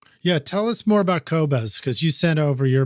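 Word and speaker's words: Qobuz: at the studio yeah tell us more about kobas because you sent over your playlist on that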